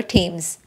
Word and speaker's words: Thames: city called The River Thames it is spelled as themes but pronounced as teams the entire city has